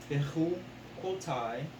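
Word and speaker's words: בחקתי: Yeah, but it's Bechu quote. Because you got to remember, since the yod is at the end, the patak is a long A sound.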